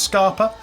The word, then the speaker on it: Scapa: Glenkeith, Glenlivet, Glentockers, Longmorn, Milton Duff, Scarpa, or Scapa, but apparently it's pronounced Scarpa, Strathisla and the Strathclyde Grain Distillery.